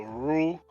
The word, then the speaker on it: rue: Let me just tell Rue, R-U-E, in French we pronounce it rue. It means street in French.